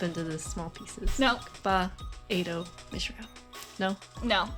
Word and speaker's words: Ba-Ado-Mishram: I'll also call her Bam, because I can't pronounce it. You gotta break it up into the small pieces. Nope. Ba-Ado-Mishram.